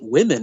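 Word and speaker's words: womyn: So even the ridiculous assault on language, like they still pronounce it women as far as I can tell, but they spell it intentionally to remove the M-E-N, men, from it.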